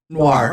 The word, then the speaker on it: noir: Noir.